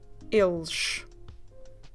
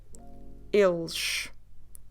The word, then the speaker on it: eles: If you still remember he, il, here you again need to add s at the end, and you have the sound sh. So you go eles, eles.